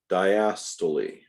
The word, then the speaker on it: diastole: The relaxation relaxation, sorry about that, is pronounced diastole, systole, and diastole.